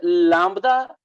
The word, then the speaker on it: lambda: Sir, is it lambda B silent, or we have to pronounce B in it? No, it's almost silent. It's just barely there.